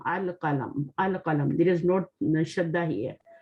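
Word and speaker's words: القلم: Because lam is, we are reading the lam, al-qalam. There is no shadda here. Okay. Al-qalamu maksuran, meaning?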